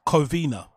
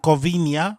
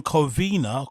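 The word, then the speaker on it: Covina: He somehow pronounces it Covenia, which kind of sounds Portuguese, kind of sounds Spanish. It's just a strange way to pronounce a word that looks pretty easy to pronounce um phonetically, right?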